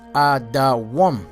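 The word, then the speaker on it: אדום: All right, the name Edom is Adawam. That's how it's spelled, Adawam, which the name Adawam means red, like the color of Esau's skin, red.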